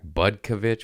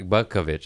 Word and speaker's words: Butkovich: What's your goddamn last name? Butko. Yeah, Zach Butko. Get it? Yeah, Zach Butkovich. I said it right. I didn't think I was going to. I remember you, kid. It's just the last name's a little tricky.